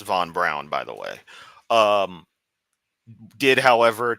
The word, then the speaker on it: von Braun: Von Braun also, and it is properly pronounced Von Braun, by the way, did, however, take advantage of concentration camp slave labor, and yeah, he's kind of on my.